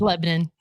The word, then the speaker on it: Lebanon: I love how Missouri calls things. It's spelled exactly the same, but they're called different things. Like Nevada, Missouri is Nevada. Yeah. Lebanon, Missouri is Lebanon.